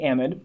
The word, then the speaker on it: amide: Next is an amide. Now, this one has a bit of regional variation in how you say this functional group. I say amide, but I've also heard people say amide or even amide.